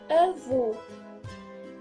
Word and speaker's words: avô: Grand-père, c'est avô. Avô. Grand-père, c'est avô. Et attention à l'écriture et aussi à la prononciation.